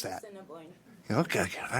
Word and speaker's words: Assiniboine: Is that, how do you pronounce that? Assiniboine.